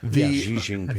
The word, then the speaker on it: Xi Jinping: Speaking of the summit, did you see, is it Xi Jinping? Is that how you Yes, pronounce I his will name? accept that. Xi Jinping.